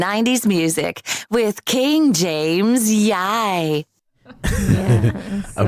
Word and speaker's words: Yiye: And we corrected that, and we rehearsed her to pronounce Yiye, which she did. Unfortunately, I don't even know where that one is. No. So we are left with YiYE, YiYE. which he's not comfortable with.